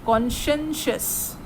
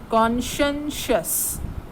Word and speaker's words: conscientious: The pronunciation is conscientious. I repeat, conscientious.